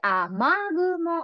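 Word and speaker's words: 雨雲: 雨の雲と書いて、雨雲と読みます。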